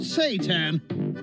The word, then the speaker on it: seitan: This is seitan, but some people call it seitan, but we figured we annoy enough people as vegans without cooking devil food, so we call it seitan. But it is pronounced seitan.